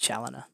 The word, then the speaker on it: Challiner: pronounce your last name my last name is pronounced challenger and i know if broadcasts are kind of